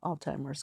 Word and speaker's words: Alzheimer's: Because the T yeah. is silent. Because I was looking at the Z. word. ALZ. Alzheimer's. Alzheimer's. Yeah, it's a hard Okay, I've word. been saying it wrong for years. Maybe we should just take that out. No, don't take it out. Don't take it. It's good. Alzheimer's. Yeah. Alzheimer's with a Z.